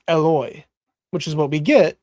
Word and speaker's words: Eloi: Eli, and I was like, oh, okay, maybe it's Eli, Eli, but it's spelled with an O. Eloi. So yeah. Yeah. Eloi, lama sabachthani. Mm-hmm. So Sabachthani. No, whatever. Oh, yes, it's midnight. I'm tired. I'm also tired. But yeah, it's Eloi. It's from Elohim, so it's Eloi.